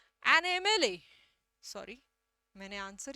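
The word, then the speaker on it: MLA: एमएलए शब्द का उच्चारण देखना, एम एल ए, म तक पहुंचने से पहले आपको ए बोलना पड़ता है। एमएलए, एमएलए, एमएलए, ठीक है।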